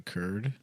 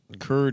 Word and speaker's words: Kurd: It doesn't just because it rhymes with turds. Kurd is Now cool.